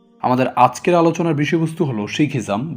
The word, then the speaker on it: শিখ: শিখ নামে প্রচলিত হলেও এই শব্দটির সঠিক উচ্চারণ হবে শিখ।